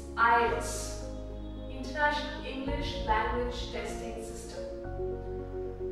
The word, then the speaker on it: IELTS: It's not IELTS as a lot of us like to say it. There's no E after the L. It's IELTS, International English Language Testing System.